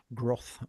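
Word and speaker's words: Groth: Uh and then yeah, growth or whatever. G R O T H.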